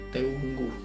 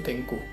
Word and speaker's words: Teungku: Yang kedua ada golongan Tengku, tapi tulisannya Teungku, NG. Kalau tadi kan Teuku, kalau ini Teunggu, tapi bacanya tuh Tengku.